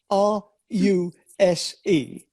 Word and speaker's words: Ruse: ruse now you know my name is ruse r u s e and i pronounce it ruse but there's an english word